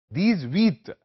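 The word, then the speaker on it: dix-huit: पीटी 18 10 और आ का मुरक है दज वत डी आई एक्स एच यू आई टी 19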